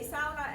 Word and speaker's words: sauna: That's how we pronounce it. That's the Finnish accent. We say sauna, and because it's almost a cultural duty to present that pronunciation, we try to spread it around.